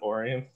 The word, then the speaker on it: Orion: orion basically oh okay like orion orion but michiganders we pronounce it orion okay okay i love